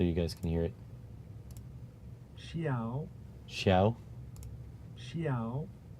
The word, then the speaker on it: XIAO: Xiao. Xiao. Xiao. It's like a meow, but it's a xiao. Xiao. Xiao. Xiaoya. Xiaoya. That's weird. Xiao. Mjolnir? Johnny? Okay. Anyways, Xiao.